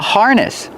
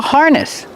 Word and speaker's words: harness: This is called a harness. Coco is wearing a harness. Harness. Pronunciation. Use the R sound like far in bar. Har. Harness. The stress is on the first syllable.